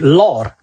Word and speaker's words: Lahore: there's a city called Lahore, or many people pronounce it Lor.